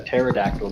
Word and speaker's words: pterodactyl: can't you hear a pterodactyl go to the bathroom I do not know because the P is silent so rolling out we